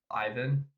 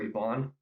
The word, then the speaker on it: Ivan: And it does a very good job of setting up Ivan, or Ivan, I guess is how you would actually pronounce it in Russian.